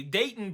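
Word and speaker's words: Deighton: um a guy named Dayton and I know you guys like Dayton like Dayton Ohio the captions spell it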